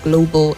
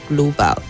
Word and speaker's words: global: The AL on the last syllable doesn't sound ah. The A there doesn't sound ah. It's a weak sound, so you say global and not global.